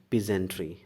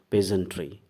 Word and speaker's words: peasantry: our peace entry is very poor many people pronounce this word peace entry this is wrong learn its right pronunciation correct pronunciation it is peasantry peasantry okay so our peasantry is very poor